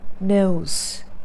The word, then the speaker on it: nose: All the three pronunciations had z sound. As long as you don't say nose. Sometimes people say I love nose rings, which is not correct. It's not nose. It's nose, nose, or nose.